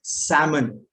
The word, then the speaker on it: salmon: And this is salmon, SALMON, salmon. The L is silent.